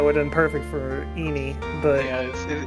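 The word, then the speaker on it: Ini: Innie? I think it's supposed to pronounce Eenie because it's a really stupid eeny, meeny, miny, mo joke.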